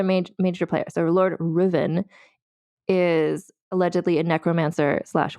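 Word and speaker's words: Ruthven: last name even to the state and is pronounced Riven anyway he's also on the Douglas site so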